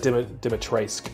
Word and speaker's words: Dimitrescu: You is silent, apparently. So I think I was, when I said Dimitrescu, I think might be correct, but I could be making that up. Well, if it was proper Romanian, you would pronounce the U, but for some reason in the game, they don't.